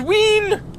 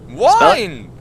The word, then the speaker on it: Wien: I have discovered Wien. What? Wait, what town is it? Wien. Wine. Win. Spell it.